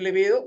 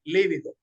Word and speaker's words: libido: pronunciamos no pronunciamos liido Aunque es una palabra grave acentuada en la penúltima sílaba es decir libido sin embargo la la gran mayoría pronunciamos líbido que es otra cosa